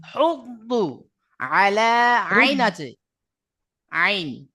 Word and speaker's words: يحض: ولا ولا يحض على طعام المسكين দেখেন এখানে এখানে আছে হুদ্দু, হুদ্দু, উচ্চারণটা শুদ্ধ হবে হুদ্দু।